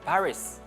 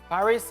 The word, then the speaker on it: Paris: the letters okay for example I don't know Paris which is the capital in France yeah Paris is the English version but in France we